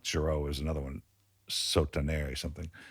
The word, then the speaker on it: Giraud: Girard. Right? So this Giraud. So yeah. Pronounce it right, Giraud.